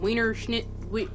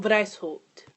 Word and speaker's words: Weishaupt: So, the founder was actually Adam Weishaupt. Wow, Salvatore should know how to pronounce a German last name considering she's been speaking German for almost a year.